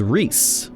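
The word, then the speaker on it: Rhys: Uh you spell you pronounce rise as Reese. Reese it being a Welsh name.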